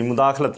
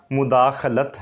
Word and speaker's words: مداخلت: میں مداخلت کر دی، مداخلت نہیں، یہ ہے یہ مداخلت کہتے ہیں، مداخلت ہے، مداخلت نہیں، مداخلت۔ پھر ہے جی مصلحت،